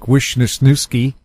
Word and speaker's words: Wisniewski: you got a name like Wisniewski Right? and the Z is silent, And they completely butcher it, and they write it out as it sounds.